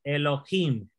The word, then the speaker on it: Elohim: y aquí aquí está es la sílaba donde quiere llevar el acento elohim porque es vocal larga este vamos a hablar